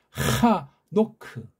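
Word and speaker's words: חנוך: 하녹. 이걸 우린 에녹이라고 했잖아요. 에녹. 이것도 역시 일본 말 가지고 언해한 거예요. 우리 소리가 아니에요. 우린 하노크. 부드럽게 해서 하노크.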